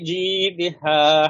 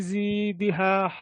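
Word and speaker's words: جيدها: ফি ফি জিদিহা হাবলুম না, এখানে জিমের উচ্চারণটা জিম। আপনাদের শোনা যায় জি এর মতো। ফিজি ফিজি ফিজি না, দি ফিজি না, ফিজি না, জিম ফিজ না। এইখানে ফিজি ফিজি না, ফিজি জিমটা জিম না জিমজের হচ্ছে না। জি জিমের ফি উচ্চারণটা হলো জিব্বার মাঝখানে উপরে ওভাবে একটু লাগানোর চেষ্টা করেন।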